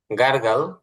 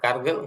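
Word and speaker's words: gargle: হ্যাঁ, গার্গল, গার্গল, গার্গিল না বলে গার্গল, কুলি করা।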